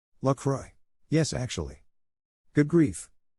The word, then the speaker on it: La Croix: I refuse to pronounce La Croix the way the company thinks it's pronounced, however. La Croix all the way tabernacle. Wait, how are they pronouncing it? I've been using the French pronunciation.